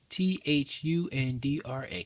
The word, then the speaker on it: Thundra: Fantastic Four, number 29, first appearance of Thundra. Is that how you pronounce it? Thundra.